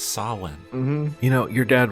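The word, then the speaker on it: Samhain: he was dressed like Sam Hayne with a bag full of Halloween presents and everything I know this is a moment here but I don't want to be that guy but it's pronounced sawn mhm you know your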